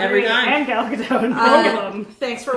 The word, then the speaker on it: Gadot: Rhymes with boat. Gal Gadot.